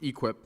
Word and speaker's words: EQIP: A cattle farmer in eastern Missouri signed a $240,000 contract in December under the Environmental Quality Incentive Program, pronounced EQIP, and had already spent $80,000 on fencing and a well that he expected to be partly paid back by USDA.